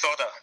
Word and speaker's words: solder: There is an L in the word, isn't there? But I think it's pronounced sodder in the States, or at least some parts of the States, yeah.